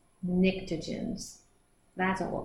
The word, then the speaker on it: pnictogens: We go over to 5A or 15, and they are the, do you think the P is silent? Pnictogens? I think so. Pnictogens.